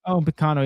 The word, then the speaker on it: Upamecano: Upamecano. Yeah, I cannot pronounce his name.